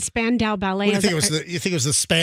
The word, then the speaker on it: Spandau: So my pronunciation was Lee Span and Dow Chemical. So Span, never heard it. Dow, Spandau Ballet.